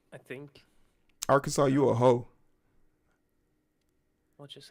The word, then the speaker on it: Arkansas: would be just per Arkansas it's AR Kansas no it's Arkansas don't you come here with your Yankee pronunciation I know I'm dyslexic